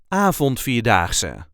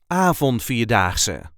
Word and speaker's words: Avondvierdaagse: a regular Dutch accent Avondvierdaagse, a national 4-day walking event. This is how we say Avondvierdaagse. Avondvierdaagse. There is a light emphasis on the first syllable.